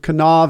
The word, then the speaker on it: Kanawha: Yeah, so check out Unity of Kanawha Valley. Yes. How do we spell that again?